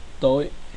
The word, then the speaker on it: tối: Example is tối, tối, which means dark. The next consonant cluster is the th cluster, which is pronounced as th, as in tank.